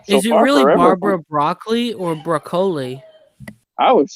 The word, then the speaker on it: Broccoli: She said that it's an Italian name, and that it's pronounced broccoli.